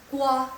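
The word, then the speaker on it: 挂: Nah, ke di sini digabungkan dengan wa, kwa. Nah, ditambahin nada keempat kwa.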